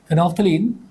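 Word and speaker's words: phenolphthalein: Methyl orange के बाद में तीसरा देखेंगे फिनोफ्थलीन। इसमें ये जो ओ के बाद वाला एल है साइलेंट है। फिनोफ्थलीन इट इज़ a natural indicator.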